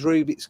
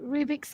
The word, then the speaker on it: Rubik: You put the emphasis on Rubik. the wrong bit. It's a Mandela Rubik's effect. Cube. It's a Rubik. Mandela effect. It's the way you said Rubik's Cube, not a Rubik's Cube.